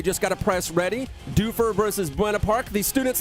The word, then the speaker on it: Dufur: got to press ready doofer versus buena park these students let me know it's not pronounced duffer and i mean that